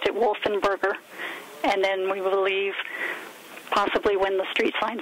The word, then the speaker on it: Wolfensberger: him his name without the S so he pronounced it wolf and burger and then we believe possibly when the street